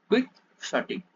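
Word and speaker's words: quixotic: இது எப்படி நம்ம ப்ரொனவுன்ஸ் பண்றது? குவிக் ஷாட்டிக்.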